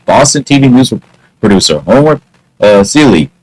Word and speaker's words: Seeley: For April Fool's Day in 1980, Boston TV news producer Homer Seeley, he actually rhymes with silly, produced a television broadcast about a hill in Milton, Massachusetts, that had begun oozing lava and spewing flames.